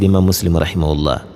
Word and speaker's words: Muslim: E a pronúncia é muslim seu livro volume 7